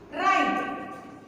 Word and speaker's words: right: Now, third word is right. R-I-G-H-T. R-I-G-H-T. R-I-G-H-T. We said that right. So, what is the silent letter in this word? G is the silent letter in this word.